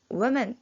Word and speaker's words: women: 스펠링은 W-O-M-E-N이지만 women으로 발음이 된다는 거 기억해 주시고요.